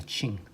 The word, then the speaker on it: Qing: 발음할 때 QING라고 하는데 칭입니다. 칭.